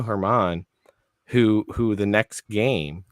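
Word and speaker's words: Germán: his name thank you it looks like German that's that's the way his name is spelled I never know how to pronounce it Domingo Herman who who the next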